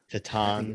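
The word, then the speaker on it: Titane: Tatan is how you say it in Tatan.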